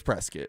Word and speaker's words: Prescott: Yeah, one's in Flagstaff, one's in Prescat. So, no, they they got some decent ski. Is that the proper pronunciation of Prescott or is it Prescuit? It's Prescuit.